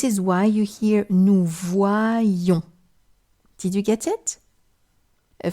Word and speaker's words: voyons: The only thing you need to know is that the Y counts for two I's. One to hear wa, one to hear I. This is why you hear nous voyons.